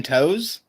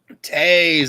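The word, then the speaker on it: Toews: down there new name jonathan toes jonathan towels we'll give him one more try it's definitely got jonathan right are you sure yeah you got that okay i'll take half assistant that's the functioning of liver juice drink drink that's that's jonathan tay's tase it was right there in front of me okay so real quick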